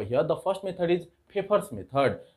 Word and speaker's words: Pfeffer: the first method is paper's method this is pronunciated as paper Okay so a favor